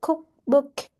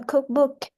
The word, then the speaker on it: cookbook: So the first one we have a compound now a cookbook a cookbook. So the the word uh a stre the word cook is the first word and it is stretch.